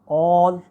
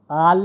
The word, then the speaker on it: all: आखिर में इन तीनों को दोबारा प्रोनाउंस करूँगा. It's O, all, walk.